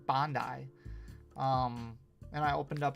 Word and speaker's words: Bandai: I did some work for uh I say Bandai, but I think it's properly pronounced Bondi.